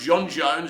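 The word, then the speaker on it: J'onn J'onzz: And you've got John Jones, whose actual name is pronounced John Jones, and he's the Martian Manhunter, but he's also, I think, a policeman.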